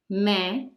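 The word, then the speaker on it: मैं: at the end but they both have a nasal sound and you can see the dots in the Hindi script meh hmm so similarly no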